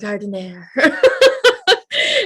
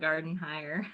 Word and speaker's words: Gardenheir: it sounds so elegant gardener anyway welcome pronounce that garden higher so like the whole thing of me loving your last name is not even the right way i love this thank